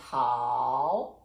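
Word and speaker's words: 好: which is very and how remember how is third tone good so i'm very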